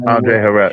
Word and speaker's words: Andre Harrell: he showed to, I might pronounce the dude's name wrong. Is it Andre Harrell? Yes, Andre Harrell.